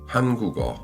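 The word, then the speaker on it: 한국어: Si vous lisez ça lettre par lettre, vous diriez Han-gu-o. 3 syllabes bien séparées. Mais un coréen natif dit Hangugo, Hangugo. Pas Hangugo, mais plutôt Hangugo. Vous voyez ce qui s'est passé. Le K final de cook a voyagé vers la syllabe suivante. O qui commence par iung silencieux, donc au lieu de cook o, vous obtenez kugo, kugo, hangugo.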